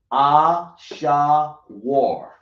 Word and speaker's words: Ashur: But Ashur, that's his name in Hebrew will be called Ashawar. Ashawar.